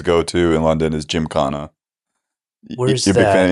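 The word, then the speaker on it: Gymkhana: Um the one place I always go to in London is Jim Kana. You're a big fan of Indian food. Yeah. Well, London's got amazing Indian. Jim Kana is the best probably Indian some of the best Indian food I've ever had.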